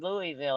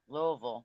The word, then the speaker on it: Louisville: I'm Kentucky what part of Kentucky I'm from Louisville area Louisville as they say doing good April how about